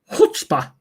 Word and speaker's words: Chutzpah: How do you pronounce that word, Mr. Magazine? Chuck's Pa. Pretty close. Chutzpah.